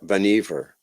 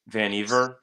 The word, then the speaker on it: Vannevar: Yeah, I'll tell you, I looked it up one time and they said that it rhymes with beaver, Oh God, so it's Vanever. Vannevar. Vanever. Yeah, like leave it to Beaver maneuver.